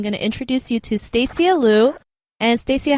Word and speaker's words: Stacia: It's actually Stacia with an A, so it's kind of weird. People mess up my name all the time, but it's Stacia. It's spelled Stacia, but kind of short like Anastasia.